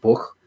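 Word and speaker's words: Bucha: if it's horrific but i believe it's pronounced like book b-u-c-h-a uh that was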